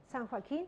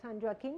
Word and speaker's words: San Joaquin: of California where this San Joaquin well sound rocking it's pronounced in English I guess the precipitation how it